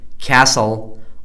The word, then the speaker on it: castle: Fetch, Stretch, Scratch, Hatch It is also silent in the following words. What are the words that are PTT silent? Whistle, listen, castle, often, Christmas, wrestle, fasten, mustn't, T is silent.